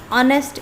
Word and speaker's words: honest: The pronunciation of honest is honest.